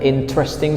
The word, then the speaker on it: interesting: So there are 3 syllables. Interesting. Not interesting, not 4 syllables. We don't read interesting, we read interesting, interesting. So you have to try to pronounce in this way because that is the correct way, right?